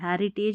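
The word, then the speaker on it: heritage: जो सांस्कृतिक है, हैरी, अब इसको हीरी नहीं पढ़ना है, HE है, RI री, और फिर तेज, TAGE, हेरिटेज यानी कि विरासत, एंड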